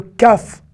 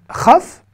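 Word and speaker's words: כ: bien on y arrive le caf est aussi le raf puisque quand il n'a pas de point il se prononce re et est exactement dans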